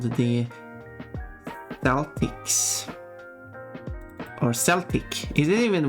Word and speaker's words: Celtics: It's NBA team actually, and yeah, it's pronounced Celtics.